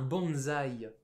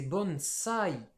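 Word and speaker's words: 盆栽: un pot là où on appelle ça un bonsaï mais en japonais c'est bonne sai bonne ça y est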